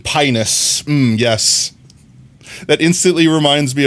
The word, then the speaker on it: Pinus: The I is even pronounced with a long e sound. M. Pinus.